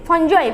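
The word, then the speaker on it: fungi: तो नेक्स्ट कोन थिला फंगी माने कोन पिले फंजाई बा हमें ताको फंजाई भी कहि परियो फंगी भी कहि परियो जहां भी व्हाटएवर प्रोनाउंसिएशन कहि पारो तो कोन ये प्योरली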